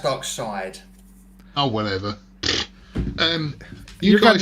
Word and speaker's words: Darkseid: we should have a dark seed movie Good Golly darkseidus is here well it's pronounced dark side oh whatever um you